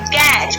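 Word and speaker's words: catch: क्या हा क्या बोलेंगे जो टी को हाईलाइट किया गया है ब्लू कलर से ये आपका टैलेंट राहत है और इसको प्रनंसीएशन नहीं करते हैं तो इसको हम बोलेंगे कैश उसके बाद एम ए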